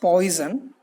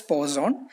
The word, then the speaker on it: Poisson: Posen a French mathematician don't call this name as poison it's just paused on the auto tell it s pause on so funny if you pronounced by the friends it may be something different but but according to English pronunciation you ought to call it as pause soon then the French mathematician